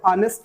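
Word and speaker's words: honest: और साउंड इसका देखा जाए, साउंड का मतलब प्रोनाउंसिएशन, तो इसका प्रोनाउंसिएशन अगर देखा जाए तो ऑनेस्ट लिखेंगे।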